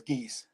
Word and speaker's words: Gies: Pronounce it Yeah. correctly? Gies? Okay. Yes, it is Gies.